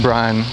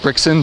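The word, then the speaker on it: Brixan: is it 425 I'm Brian with a x Brian with an X the x is silent though you don't pronounce it here I'll call you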